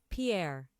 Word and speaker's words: Pierre: saying it wrong because in South Dakota they say this as Pier don't now listen I